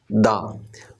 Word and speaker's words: the: हम इसको पढ़ते हैं दा, और अगर THE के बाद, इस THE के बाद यहाँ पे वॉल होता तो हम इसको पढ़ते दी। After THE B is consonant, we pronounce it दा ब्रीज, और आफ्टर THE